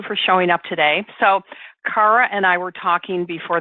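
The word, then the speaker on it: Kara: ra and I said so is it Cara or is it Cara she goes well my mom pronounces it Cara and my dad pronounces it Cara right Cara so I'm going to announce it I'm going to pronounce it like your mom Cara because I love that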